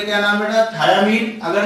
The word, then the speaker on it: thiamine: थायामीन की बात किया जाए THIAMINE है बेटा, ठीक है, THY नहीं है, प्रोनाउंसिएशन में थायामीन ही बोलते हैं, लेकिन वो थायामीन जो